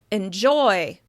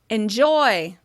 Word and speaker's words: enjoy: Enjoy. Enjoy. That's because the vowel sound in the first syllable is reduced. You can really hear clear contrast when vowel sounds are reduced. Try it for yourself. Enjoy. Enjoy.